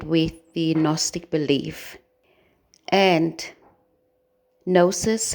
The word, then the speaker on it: gnosis: the Gnostic belief and gnosis has two syllables no and says no